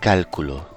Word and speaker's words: cálculo: With no accent, this word is pronounced Calculo. but with an accent, it can be Cálculo. or. Cálculo.